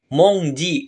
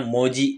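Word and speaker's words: 文字: Minasa Nah di sini cara bacanya spesial monongji nah n-nya dihilangin jadinya Moji gitu aja dulu ada n-nya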